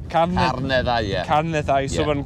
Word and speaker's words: Carneddau: Carneddau. Carneddau, yeah.